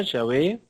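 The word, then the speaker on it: Yahvé: básico estábamos viendo Jehová Ya ve la pronunciación exacta parece que los samaritanos son los que tienen la más antigua y mejor que es y ave los judíos ya lo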